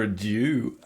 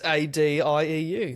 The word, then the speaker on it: adieu: It's a d i e u. That would be adieu. It's not a do if that's what you think.